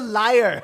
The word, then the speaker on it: lyre: he explains that there's a harp, a mandolin, a lyre, or a lyre. I'm not quite sure how that one's pronounced. It's a liar.